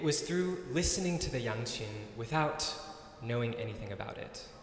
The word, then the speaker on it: yangqin: up okay spelled y-a-n-g-q-i-n pronounced young chin not young queen i'm the young queen